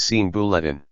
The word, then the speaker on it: 刑部: Ministry of Justice, an idle ministry, is pronounced as Sian Bulletin, whilst the Ministry of Justice, is pronounced as Sien Bulletin.